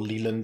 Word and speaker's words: Leyland: Wayland is very definitely the British Leyland Company, or Leland, depending on your pronunciation, who used to own Jaguar and Land Rover, and they still make those massive trucks.